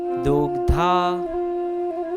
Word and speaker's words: दुग्धा: सर्वोपनिषदो गावो दोगधा अब दोगधा में यहां पे अर्ध ग है और पूर्ण ध है तो हमें इसी प्रकार उसका उच्चारण करना होगा।